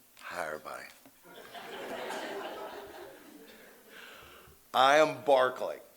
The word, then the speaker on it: Barclay: And if you grow up in Matt Juliet and you say, "Hi, I'm Barlay." You get punched in the head, right? So, I've just always pronounced my name Barkley.